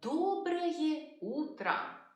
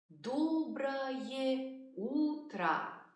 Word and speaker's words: Доброе утро: We say Доброе утро in the morning. Доброе утро.